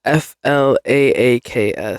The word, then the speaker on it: phlox: The breakdown says Flaaks and it's all together. And I would read that as like flat.